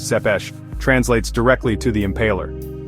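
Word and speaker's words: Țepeș: Tapez, pronounced Zepesh, translates directly to the impaler.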